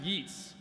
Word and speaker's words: Yeats: Yeats, which is actually pronounced Yeats.